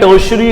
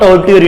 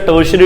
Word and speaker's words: tertiary: ठीक है सर, क्या बोलना है? टर्शियरी industry, not टर्टियरी industry. ठीक है, इट्स अ टर्शियरी इंडस्ट्री।